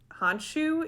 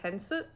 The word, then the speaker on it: Khonsu: So they call him Khonsu in the show. I googled it, and I think it actually is pronounced more like Hensu or it's spelled with a K.